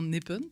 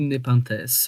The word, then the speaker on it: Népenth S.: peut dire npinte ou népintesse euh ça se prononce plutôt népintess d'accord euh comme la plante carnivore ah je ne mais